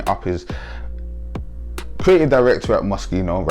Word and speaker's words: Moschino: up in london and for years we said moschino mashino mashino loved it that's what we called it right i married an italian and she told me no no it's moschino right moschino right and